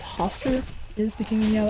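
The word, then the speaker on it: Hastur: I'm pretty sure last time I said it wrong and I think it's Hoster is the king you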